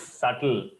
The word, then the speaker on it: subtle: true it is not subtle the reason why I mentioned this one in the slide is B is silent the me uh the the pronunciation is subtle pronunciation examp meaning is